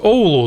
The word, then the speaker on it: Оулу: Але особливість Оулу, так, наголос на букву О, виправляюся. Так от, особливість Оулу – тут сильні вітри, і під час пожеж вогонь занадто швидко розповсюджувався по місту.